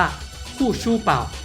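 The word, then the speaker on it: 护舒宝: มัน ผ้า อนามัย วิสเปอร์ ที่ ออก เสียง ภาษา จีน กลาง ว่า คู่ ชู่ เป่า หรือ แปล ตรง ตัว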